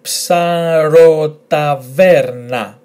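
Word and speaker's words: ψαροταβέρνα: Letter ps, pronounced ps, a, r, o, psaro. And then we have t, a, ta, v, e, ve. And this is where the emphasis in the word will go. So, psarotave, and then rna, rna. Altogether, psarotaverna, psarotaverna, which means seafood tavern.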